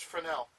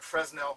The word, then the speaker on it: Fresnel: I know it looks like Fresnel, but it's pronounced Fresnel.